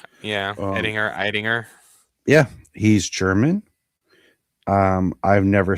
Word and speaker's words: Eidinger: So James Gunn announced that he had cast Brainiac, and it is, I want to pronounce everything correctly, Lars Ettinger. Yeah, Eidinger.